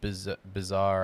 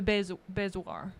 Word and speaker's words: bezoar: I always said bizarre. I'd never. I don't even know if that's Bezoar. I have no idea. Bezoar. I don't know. Yeah. I think you said it right. Was wanting to point out that I've said it wrong for years.